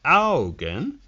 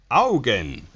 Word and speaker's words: Augen: soccer then we have the algon the augen if you get poked in the eye two times one on each side you go ow again augen all right now we have